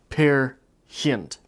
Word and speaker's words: Peer Gynt: pair who and now as I understand this is pronounced pair hint I only speak English